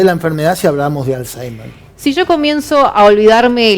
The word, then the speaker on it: Alzheimer: son la demencia por Alzheimer nos pronunciamos Alzheimer pero es Alzheimer porque es alemán pero las demencias vasculares